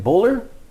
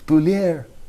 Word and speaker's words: Beaulieu: How do you pronounce her last name? Bowler. Jacqueline Beaulieu coming out of nowhere. Yeah. Beaulieu.